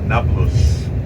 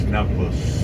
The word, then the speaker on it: Nablus: city neopolis became nablus the arab cannot don't pronounce they cannot pronounce the letter p every p becomes a b in arabic so it's naples and that's samaria you